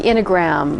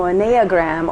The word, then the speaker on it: Enneagram: So, you know, what we're talking about is the Enneagram. Yes. Is that the proper way to pronounce it?